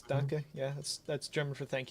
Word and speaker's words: Danke: It's Danke. Yeah, that's German for thank you. Right, but I always pronounce it as like Donkey, like putting extra emphasis on the E.